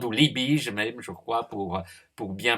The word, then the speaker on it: Liebig: les travaux d'un chimiste Liebig, ou Liebig pour bien prononcer à l'allemande, ou Liebig même, je crois, pour bien prononcer à l'allemande.